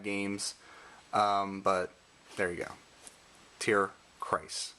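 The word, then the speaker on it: Tierkreis: Suicode and Tear. Hey, it's my last name. Tear. I keep saying. Christ. Correct pronunciation is Christ. Tear Christ.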